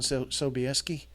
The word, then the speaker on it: Sobieski: portrait of King John sobieski I'm going to just pronounce it the way English people would pronounce it at the English pronunciation